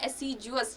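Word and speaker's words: assiduous: Pronunciation ध्यान रखना है एसिडुअस का, एसिडुअस नहीं होता, एसिडुअस, ज का साउंड आता है, जे का, ठीक है।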